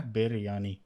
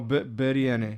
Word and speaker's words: biryani: But I don't know how to pronounce It's it. Yeah. biryani. Oh, biryani.